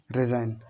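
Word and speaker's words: resign: आगे देखो आठवां हमारा बोल रहा है कि यदि एन से पहले जी आ जाए तो जी हमारा कैसा रहता है, जी हमारा साइलेंट रहता है, किस रहता है, जैसे रैन, साइन, डिज़ाइन, रिजाइन, सब चीज़ बताई दी, इसकी बताई दी।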